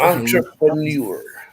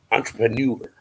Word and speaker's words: entrepreneur: Entrepreneur. Almost like manure. Think of manure at the end. Entrepreneur.